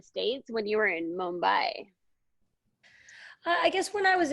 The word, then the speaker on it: Mumbai: Mumbai.